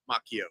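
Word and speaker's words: Macchio: Yeah, by the way, it is pronounced the Marvel editor's name is pronounced Makio. So, I've been saying it right because I remember a long time ago somebody said, "Don't confuse him with the Karate Kid. That's pronounced Machio."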